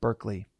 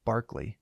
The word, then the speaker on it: Berkeley: Although uh George George Berkeley or no sorry Barkley even though it's spelled Berkeley like the city Berkeley uh it's pronounced Barkley.